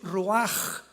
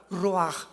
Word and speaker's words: ruach: La palabra para espíritu en el hebreo es la palabra que es ruaj, que se escribe ruach con ch. Pero repito, ese pronuncio pronuncia como J. Roaj.